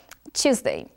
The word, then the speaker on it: Tuesday: Então, aqui, atenção para o Tuesday, você vai lembrar do number two para poder pronunciar corretamente Tuesday.